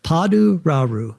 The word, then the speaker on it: Paduraru: Padu Rau. That's how it's pronounced.